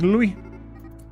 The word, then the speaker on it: Louis: I think I called you Lou the last, like, 6 times. Give me the 12 months. It's Louis.